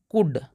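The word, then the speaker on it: could: इसका नियम है दोस्तों कि एल वहां पर साइलेंट हो जाएगा जैसे कि इसको पढ़ते हैं कुड मैंने आपको पिछली वीडियो में बोला था कि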